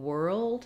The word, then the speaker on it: world: So letters OR in world say the sound. It's a stressed R. We spell that with IR or UR or ER like in person, UR like in turn, IR like in bird, OR like in world and work.